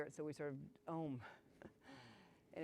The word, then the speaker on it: Om: so we sort of ohm and it's two really two three syllables a-u-m but we sort of sound sounded as an om second home is for